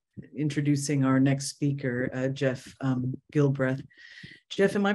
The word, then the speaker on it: Gilbreth: beautifully into um introducing our next speaker Jeff Gilbreth Jeff am I pronouncing your last name correctly that's correct thank